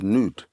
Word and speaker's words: Nod: L of Nod um in the language is actually pronounced as nude but nod is where